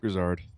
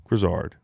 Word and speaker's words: Grizzard: Baker Mayfield and Grisard or Grizzard, however the you say his name, respectfully. Grisard. Grisard.